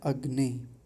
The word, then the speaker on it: अग्ने: इसको हम शुद्ध उच्चारण करना सीखेंगे। तो सबसे पहला शब्द है अग्नि।